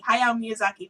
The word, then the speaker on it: Hayao Miyazaki: is a Japanese film uh by Hayao Miyazaki Hayao Miyazaki that's how you say it Studio Ghibli things that are difficult to pronounce um and I just remember identifying with